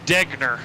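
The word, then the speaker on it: Degner: blood in it but it's definitely degna i verified that with him today i'm sure his friends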